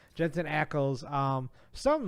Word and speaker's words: Ackles: said on our fan Jensen ankles or Eccles I keep saying ankles every time I say his name Jensen Ackles um something like that